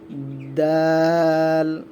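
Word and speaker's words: دال: এই জন্য আমরা প্রতিটা ক্লাস সুন্দরভাবে করব এবং আমাদের ভিডিওগুলো মনোযোগ করে দেখব এবং আমার সাথে সাথে উচ্চারণ করার চেষ্টা করব। আচ্ছা, এটা পড়ি আমরা। দাল, দাল, দাল, আমার সাথে সাথে পড়ুন সকলেই।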